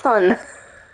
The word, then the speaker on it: Sun: soon has to say soon that word is pronounced sun welcome what would you